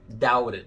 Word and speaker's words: doubted: Outra coisa para falar sobre o doubted é que, não sei se você reparou, mas eu não pronuncio o T como um T, e sim como um R, doubted.